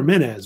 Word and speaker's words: Menes: So it's either Men or Menes was the Greek name. But Menes is the more popular name.